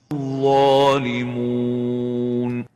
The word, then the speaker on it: الظالمون: الظالمون So, الظالمون, not to mix it with a nasal gunna. Don't say الظالمون. Thus, avoid nasalization when pronouncing the wow and make sure you pronounce it without gunna.